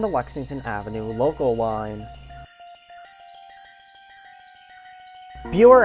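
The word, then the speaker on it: Buhre: Buer Avenue starts us off. Yes, that's how it's pronounced.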